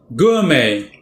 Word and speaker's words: gourmet: 2 syllables. The first syllable is stressed, but note the way the first syllable is spoken. Gour, oo. That's called a diphthong. Oo and together. Gourmet.